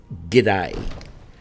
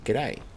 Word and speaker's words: G'day: No, it's pronounced g'day. Right? It does mean good day, but we don't go good day. We say g'day.